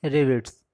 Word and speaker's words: rivet: General pronunciation confusion के कारण लोग इसको रिपीट भी बोलते हैं, जो कि आप ग्रामीण क्षेत्रों में देख चुके होंगे कि इसका क्या प्रोनाउंसिएशन होता है, रिपीट। ठीक, लेकिन एक्चुअल में इसका क्या है प्रोनाउंसिएशन, ये है, इसको क्या बोलते हैं, रिविट्स।